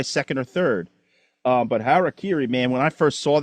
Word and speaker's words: Harakiri: Harakiri say say it for me one more time so I never say it wrong again.